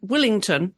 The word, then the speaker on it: Wellington: And you were born in Willington, as I was reminded when I was in what we would call Wellington is pronounced Willington with that Kiwi accent.